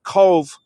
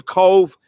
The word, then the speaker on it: Cobh: And the name was changed back to Cobh in 1920. And Cobh is the Gaelic name. C-O-B-H is the Gaelic name in the Irish language for the English name C-O-V-E. But it has the same pronunciation.